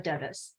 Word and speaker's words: Devis: I'm Diantha, Hire Club's Director of Coaching, and with me today is Devis, or Davies. Did I say it right? I It's mispronounced. Devis.